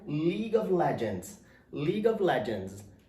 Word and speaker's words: League: Então é o L e o I, li, e o E, o U e o E não são pronunciados, ele é silencioso, então só vai terminar no G.